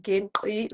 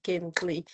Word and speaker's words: Gingqi: use platforms such as these ones to say, oh, actually, it is Gintli, not Gintli.